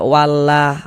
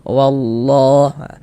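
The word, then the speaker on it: وَاللَّهُ: Kemudian di sini kita baca wallah, jangan dibaca wallah wallah jangan. Tapi kita baca wallah ditebalkan lafaz Allahnya. Mengapa begitu?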